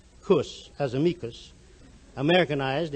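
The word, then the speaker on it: -cus: the sake of euphony making the full termination c-u-s pronounced with a hard seed cuss as amicus americanized its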